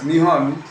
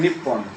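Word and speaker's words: 日本: এখন ব্যাপারটা হচ্ছে, এর বাইরেও লোকে বলছে যে নিহন ইজ the Japanese name of Japan, commonly pronounced as নিহন অর এ নিপ্পন।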